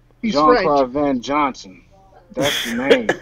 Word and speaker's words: Jean-Claude: It's not John Van Dam. Yeah, that one, yeah. I gotta give you that one. It's Jean-Claude Van Damme. Yeah, it's Jean-Claude. He's Jean-Claude French.